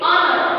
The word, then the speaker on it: honor: We use only honor. Honor. H is silent.